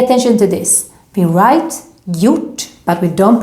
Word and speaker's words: gjort: So also here, when we see a word that has this combination, we don't pronounce the G. It's silent. For example, in this verb, gjort.